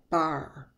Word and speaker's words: bar: consonant here we have the word bar the consonant is the B the vowel is the a but that changes the r takes control of the vowel instead of saying a it combines and says R notice at the very